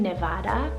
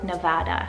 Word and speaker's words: Nevada: to the boys side i have the name nevada or nevada spell n-e-v-a-d-a so this one is a spanish